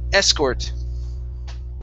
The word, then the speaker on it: escort: Okay, so the stress goes at the very beginning here. The word is escort.